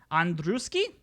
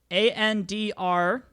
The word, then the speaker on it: Andrzejewski: Andruski? Andrzejewski. Andruski, I believe, is what this guy's name is.